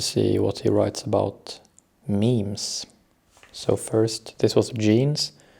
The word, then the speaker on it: meme: It should be pronounced to rhyme with cream.